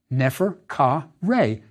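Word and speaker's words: Neferkare: honorific placement for the God how is it pronounced and what does it mean nefer c Reay is how it sounded it means the beautiful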